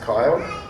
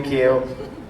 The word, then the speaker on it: Kiel: It's spelled weird. It is pronounced Kyle. If you call me Kiel, it's no big deal.